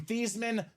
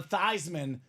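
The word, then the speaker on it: Theismann: Dame they say Joe let's change your last name from thian to thyman so we can campaign and go thyman for the Heisman the name stuck the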